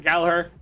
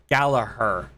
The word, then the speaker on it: Gallagher: His name is John Gallagher. Not Gallagher. Not Gallagher. Gallagher. I probably butchered that by saying that, but whatever.